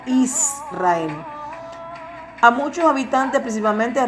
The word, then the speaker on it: Israel: Así que realmente la verdadera pronunciación es Israel, no Israel.